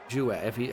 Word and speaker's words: Hua: Apparently, Hua is Chinese origin, pronounced Jua.